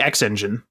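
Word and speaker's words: XnGine: the X X engine which is spelled x n g i n e so I'm just going to call it the X engine and this was one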